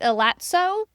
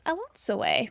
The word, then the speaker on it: Elatsoe: It took me listening to the audio book to realize that's how it is pronounced. When I was looking at it before, I absolutely was calling it elato, but it is elato, which I think is really pretty.